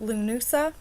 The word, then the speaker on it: Lughnasa: the actual I know I keep bring this pronouncing this but Lou Noosa Lughnasa is a Gaelic festival marking the beginning